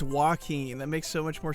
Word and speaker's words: Joaquin: last name is fenix what's his first name joakim how do you say his name i forgot i'm not gonna listen to a youtube on how to say his name oh it's joaquin that makes so much more sense it's like